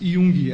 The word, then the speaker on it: Jung: na sequência o artigo da Wikipédia nos traz Yung é assim que eu pronuncio é exato Como qual qual que é